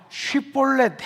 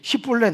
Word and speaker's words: 십볼렛: 야, 십볼렛 해봐. 그러면 에브라임 사람은 이 쉽 발음이 안 된다는 겁니다.